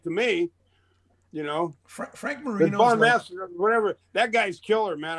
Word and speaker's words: Bonamassa: Well, he plays a certain style of pentatonics, like Joe Balsanama, whatever the guy's name is. Bonamassa. Yeah. Bonamassa. I can't pronounce his name yet.